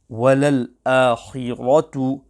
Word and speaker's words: وَلَلْآخِرَةُ: Also, the ra on the word walal akhiratu must be pronounced sufficiently full mouth.